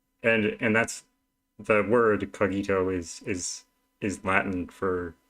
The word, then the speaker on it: cogito: I was taught um originally I was taught it was the kogi the cogito but um but I've looked it up and there seems to be no consensus on how it's pronounced though the kajito seems to have stuck and I'm cool with